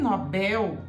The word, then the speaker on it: Nobel: um prêmio prêmio Nobel o prêmio Nobel porque não tem acento e termina em L como anel tá palavra que termina em L duas sílabas Você não tem jeito de falar Nobel primeiro que uma língua